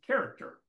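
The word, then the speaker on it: χαρακτήρ: actually understand what the word means if you pronounce it it actually is character that's actually how you would pronounce the Greek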